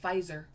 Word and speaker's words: Pfizer: friends at pfizer pfizer that spelled so weird i hate that i hate the the f that's made by the p and the f i don't like that so silent p because you don't even need the p right right so the